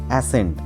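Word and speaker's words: ascend: সেরকমই একটি ওয়ার্ড হলো অ্যাসেন্ট এ এস সি এন ডি এখানে সি টা সাইলেন্ট এর অর্থ কি অ্যাসেন্ট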